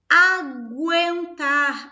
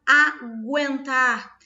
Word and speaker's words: aguentar: Aguentar. Olha aqui, o som do U foi pronunciado. Aguentar.